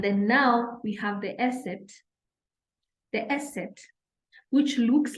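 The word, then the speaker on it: Eszett: that it's called an Esset, and it represents double S.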